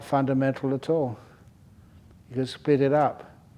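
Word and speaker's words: attā: the Atma that's how was it was uh pronounced in in uh Sanskrit the Atma in par the uh that's right uh the ATA so anyway even experience you can't take experience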